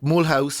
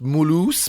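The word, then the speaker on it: Mulhouse: and from there you go on trips like M house or it's pronounced Mulo by the way I was pulled up on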